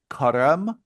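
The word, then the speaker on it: Carême: I pronounce it Careme.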